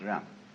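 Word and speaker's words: 仁: Uh I don't know what they are, but it's pronounced ran.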